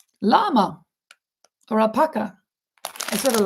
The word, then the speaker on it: llama: Crochet the llama. Llama. Yama. I I in Spanish it is yama, but it's spelled with two L's.